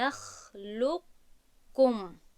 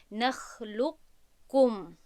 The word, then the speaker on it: نخلقکم: یعنی که این رو چگونه تلفظ میکنیم؟ نخلقکم، لق، وقتی که میگویم لق که میگویم باید که صفتی استعلا پس از لام بیاید و بعد ما وقتی که کم میگویم باید که با کاف تلفظ کنیم. نخلقکم، نخلقکم. کمی زبان و بالا می رود پس از لام، پس از تلفظ کردن لام، تا اینکه ما صفتی استعلای قاف رو تلفظ کنیم و بعد میگذاریم به حرفی کاف.